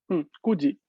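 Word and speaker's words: 九時: kuji. En contexto de hora cambia su pronunciación de Q a Q.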